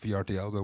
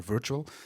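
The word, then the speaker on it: VRTL: virtual or VR TL some people pronounce it VR Thiago we prefer virtual which is an online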